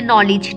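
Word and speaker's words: knowledge: Bring a knife from the kitchen, इसी तरह N से पहले क्या आए तो क्या हो जाता है, साइलेंट हो जाता है, जैसे नॉलेज, ठीक है।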